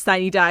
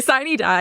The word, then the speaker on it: sine die: And yes, sine die is the correct pronunciation. Don't come after me, Latin heads. But That's hilarious. But anyway, sine die is how it's pronounced.